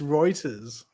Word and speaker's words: Reuters: Apparently, it's Reuters. That's what I said. It's one of the three pronunciations.